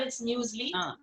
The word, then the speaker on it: muesli: People pronounce it as muesli also, but it's muesli.